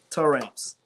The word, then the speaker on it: Taramps: How you say it? Taramps. Taramps, y'all. So that's not how I say it.